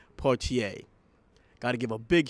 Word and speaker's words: Poitier: of legend himself partier and of course you know me i said his name wrong but i know it now poitier got to give a